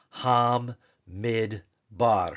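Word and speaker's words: הַמִּדְבָּר: H doet silent shva and then the next syllable would be the bait with the doish Len comets race Hamid bar Hamid bar Hamid bar but now we want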